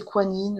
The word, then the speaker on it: Guan Yin: Alors, ici, on a en déesse, on a Guan Yin. Je pense que c'est Kuan Yin aussi qui se prononce aussi.